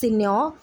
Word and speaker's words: Signor: of senor kando s-i-g-n-o-r space c-a-n-t-u we uh pronounce it as senior but the spelling is signored okay it is